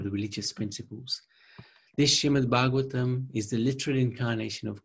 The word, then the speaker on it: Bhagavatam: Bhagavatam actually is, the word Bhagavatam is 4 syllables.